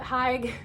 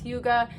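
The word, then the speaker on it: hygge: So I like to call it Hig because I like when things are pronounced how they look. That is not how you call it. It's Huga.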